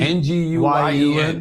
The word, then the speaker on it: Nguyen: Vietnamese name. N G N G U Y E N Nguyen is the closest, yeah.